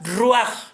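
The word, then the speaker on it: רוּחַ: En hebreo se pronuncia ruach, ¿verdad? El ruach, que es el aliento de vida, el espíritu de vida.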